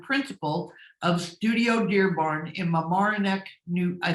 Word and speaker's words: Mamaroneck: She's a two-time best overall kitchen winner in our annual NKBA design competition and principal of Studio Dearborn in Mamaroneck, I said it right that time, Mamaroneck, New York, Sarah Robertson, AKBD.